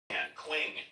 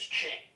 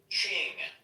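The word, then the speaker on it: Qing: It's pronounced as Ching. Ching.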